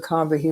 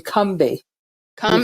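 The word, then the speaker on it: Combahee: fact uh is that we've been pronouncing it incorrectly all these decades it's actually come be kind because they have come be as if it's too slow with no a in the middle and I heard a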